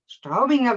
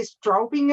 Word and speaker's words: Straubinger: happy to have straubinger with me do you pronounce it right oh your pronunciation was great that was a german pronunciation we said don't say strobing or we say strawberry